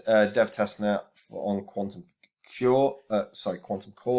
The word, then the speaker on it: Qtum: description all right guys q1 quantum is actually how it's pronounced but um so there's